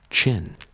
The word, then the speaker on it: Qin: TheQin dynasty fell, but the name Chin, pronounced Chin, would echo through time.